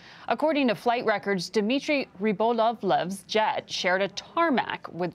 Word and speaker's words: Rybolovlev: Yeah, Rybolovlev.